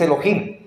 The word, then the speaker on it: Elohim: es la palabra Elohim eso se pronuncia incluso vamos a ver su pronunciación vamos a confirmar que sí es que si es Elohim para que ustedes de